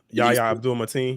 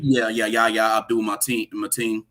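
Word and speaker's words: Yahya Abdul-Mateen: Yeah, Yahya Abdul Mateen. Yahya Abdul Mateen.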